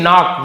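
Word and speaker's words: knock: वैसे ही नॉक, नॉक नॉक बोलते हैं ना, लेकिन के लिखना है आपको, पढ़ेंगे तो हम नॉक बोलेंगे भी नॉक, लेकिन नॉक यानी क्या होता है, खटखटाना, नॉक नॉक करना।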